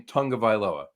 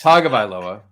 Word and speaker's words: Tagovailoa: Everybody's pronouncing his name Tagovailoa. Where's the N? That's how it's been for years. Where's the N? I get but it's Tagovailoa. Tagovailoa. No, but I don't get it. You're thinking of it in terms of American English. Mm-hmm. And I think you have to look at the Hawaiian pronunciation, Polynesian pronunciation of it.